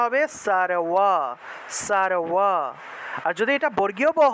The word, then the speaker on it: সর্ব: ঠোঁট না লাগিয়ে ব উচ্চারণ করলে যে উচ্চারণটা আসে সেটাই হলো অন্তস্থ বয়ের উচ্চারণ। তাহলে সারওয়া, সারওয়া এইভাবে উচ্চারণটা আসবে।